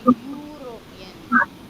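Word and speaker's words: European: யூரோப்ல இருக்குறவங்கள நம்ம யூரோப்பியன் அப்ப யூரோப்பியன் அப்படிங்கும் போது எப்படி சவுண்ட் வருது பாருங்க யூரோப்பியன் யூரோப்பியன் யூ you sound வருது யா யா யா அந்த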